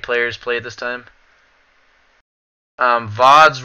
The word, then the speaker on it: VODs: VODs rhymes with bods.